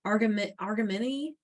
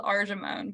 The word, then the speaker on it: Argemone: It's and you may need to correct me in how I'm pronouncing it, but it's argamini, argamini mexicana.